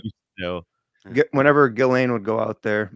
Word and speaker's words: Ghislaine: Whenever Ghislaine would go out there, and it's the S is silent, by the way, boys.